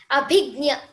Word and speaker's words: Abhigya: I'm sorry I I I'm want to pronounce your name right. How do you say your name again? Abiga. Abhignia.